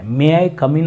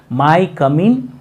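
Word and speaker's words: May I come in: ಐ ಕಮ್ ಇನ್ okay but ನಾನು ಸಾಕಷ್ಟು ಜನ ಸ್ಟೂಡೆಂಟ್ಸ್ ಗಳನ್ನ ನೋಡ್ತೀನಿ ಎಸ್ಪೆಷಲಿ ಕನ್ನಡ ಮೀಡಿಯಂದಲ್ಲಿ ಕಲಿತಂತ ವಿದ್ಯಾರ್ಥಿಗಳು ಇದನ್ನ ತಪ್ಪಾಗಿ ಉಚ್ಚಾರಣೆ ಮಾಡ್ತಾ ಇರ್ತಾರೆ ಮೇ ಐ ಕಮ್ ಇನ್ ಅಂತ ಅನ್ನೋ ಬದಲಾಗಿ ಅವರು ಏನ ಅಂತಿರ್ತಾರೆ ಗೊತ್ತಾ ಮೈ ಕಮ್ ಇನ್ ಮೈ ಕಮ್ ಇನ್ ಅಂತ ಅಂತಿರ್ತಾರೆ ಇಲ್ಲಿ ಮೇ ಐ ಕಮ್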